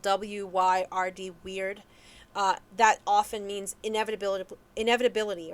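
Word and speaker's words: wyrd: rune cast and you get the weird symbol it's spelled w-y-r-d weird that often means inevitability inevitability or unavoidability maybe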